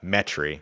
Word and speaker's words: Metairie: of Metairie or Luke as we call it here in Louisiana metri because we ain't got time for all these syllables out here uh and